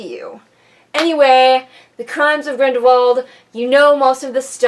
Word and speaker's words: Grindelwald: fantastic beasts movie the crimes of Grindelwald which i don't know why they pronounce it the german way but that's okay but